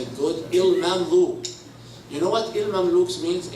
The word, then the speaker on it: ElMamlouk: Last thing about that, my last name, the one Miss Nanny, she doesn't know how to say it good, ElMamlouk.